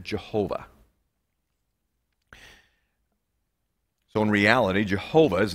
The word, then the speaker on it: Jehovah: of the covenant name they took the vowels from adonaia or adonai and they put them within the consonants of yahweh and when you pronounce that together you get jehovah so in reality jehovah